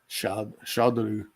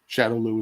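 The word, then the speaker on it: Shadaloo: Shadolu. The Shadowloo is basically the Japanese pronunciation of the word shadow.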